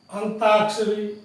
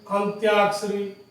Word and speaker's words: अंत्याक्षरी: अब अंताक्षरी, अंत्याक्षरी, अनत्याक्षरी, अंत्याक्षरी। तो ये अंत्याक्षरी, अंतराक्षरी ये शब्द उच्चारण में लगभग एक जैसे लगते हैं, लेकिन